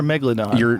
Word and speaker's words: Megalodon: it it's it depend your emphasis can be on a different salable it's both it's it's not like nuclear and nucular no no cuz cuz it doesn't have two U's um but it's spelled it's spelled the same but it's like dimetrodon or dimetrodon it's the same thing megalodon or Megalodon oh God you're wow